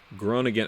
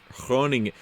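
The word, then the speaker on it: Groningen: Alabama what's up man greetings from Belgium Holland grown again I'm sorry groaning groaning Paul David's was helping me out with my pronunciations last week so in Dutch the G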